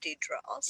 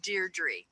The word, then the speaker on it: Deirdre: better from now on I always said it D troubles yeah is Deirdre oh so good she gave me the pronunciation so yeah yeah I appreciate that because